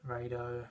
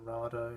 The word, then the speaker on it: Rado: They do all they have is like Longines, Tissot, Rado or Rado, depending on how you say it.